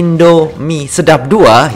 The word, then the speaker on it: Indomie Sedap 2: Oke, memang ini dari Indomie Sedap 2 ya. Harus dipatah-patah bacanya ya, jangan langsung seret ya, nanti dikira ada apakah gitu ya.